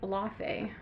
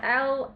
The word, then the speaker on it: Laufey: I think it's Luve. Don't fact check that. I feel like that's wrong. I feel like that's very wrong. I feel like most people say Lafe, and that's definitely not right.